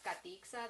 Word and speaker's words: Katiksa: And so my name technically like is Katiksa. That's how it's pronounced, but my teacher in kindergarten is the one that gave me like the English version.